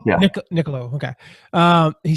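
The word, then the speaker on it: Niccolò: Is that how you pronounce Machiavelli's first name? Niccolo, yeah. Niccolo, okay.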